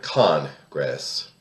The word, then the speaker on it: Congress: I am thoroughly disgusted with the act of the current Congress, emphasis on the first syllable, which has cobbled together